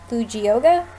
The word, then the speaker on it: Fujioka: Fujioka?